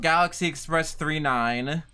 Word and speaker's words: Galaxy Express 999: you don't know about Galaxy Express 39 uh pronounced G Galaxy Express 39 but spelled Galaxy Express 999 um completely forgot about